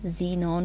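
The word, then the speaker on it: xenon: Radon, XE क्या बना, जीनॉन की सिंबल, और रेडॉन इसको जीनॉन पढ़ते हैं, बहुत सारे बच्चों को इनकी प्रोनाउंसिएशंस भी नहीं आ रही होती हैं, जीनॉन, krypton, argon, helium, नियॉन, and then radon, radon की Rn।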